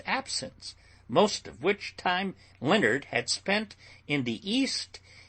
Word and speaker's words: Leonard: Leonard and Paul were two friends. "Pronounce it Leonard, child," cried the parson.